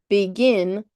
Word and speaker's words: begin: Begin, I got to take a little bit of a break. Begin. You see that? It's kind of like if you have the word between, between, that's going to have two syllables.